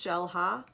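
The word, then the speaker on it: Xel-Há: there's also like shell ha X but it's pronounced shell ha and then there's Explorer which is cave diving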